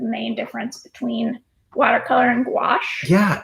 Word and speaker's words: gouache: I know opaque watercolor gouache it's just wash okay but people don't